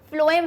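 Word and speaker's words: phloem: आज कैसे बताई कि देखो मैम फ्लोएम है, फ्लोएम का प्रोनाउंसिएशन कैसा आ रहा है, स्पेलिंग पे मत जाना,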